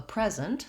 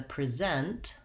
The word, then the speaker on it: present: For example, if I have a present, someone gives me a gift, first syllable stress, that's the noun, versus I'm going to present some information, second syllable stress, that's the verb.